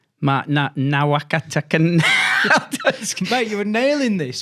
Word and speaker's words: Nawaqanitawase: Let's go again, Carl, on how you pronounce his name. Mark Nawaqanitawase.